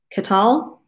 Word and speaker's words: KTEL: So the Ktel, which I think is pronounced Ktel. Anyway, it looks like kettle to me, but it's not.